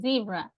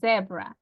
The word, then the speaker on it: zebra: little bit complex because they don't say zebra the American people they say zebra but the British one they say zebra so oh but everybody's